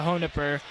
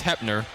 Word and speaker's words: Hepner: Well, you have senior Olivia Honipper. Leads the teams in points per game with 12.6. I probably just butchered that pronunciation. I believe it's Hepner.